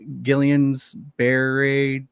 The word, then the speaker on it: Guillain-Barré: Daniel's currently in the hospital right now, fighting and recovering from Guillain-Barré syndrome.